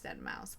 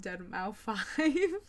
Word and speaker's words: deadmau5: It's pretty sure it's deadmau5, but like I think before making this video, I kept calling him Dead Mouse 5.